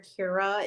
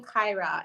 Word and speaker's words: Kyra: r a and unfortunately her name gets butchered a lot a lot of people will call her kira instead yeah that's the way it's spelled um but something about the name kaira and then kaija's name